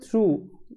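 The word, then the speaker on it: through: বন্ধু পাসিং মানে যাচ্ছিল থ্রু মানে মধ্যে দিয়ে এইটা হচ্ছে প্রিপজিশন কোন কিছুর মধ্যে দিয়ে যাওয়া এটাকে এইটা বোঝানোর জন্য থ্রু এর ব্যবহারটা করা হয় আর এখানে জিএইচ টা কিন্তু সাইলেন্ট অবস্থায় আছে তো এটা বুঝতে হবে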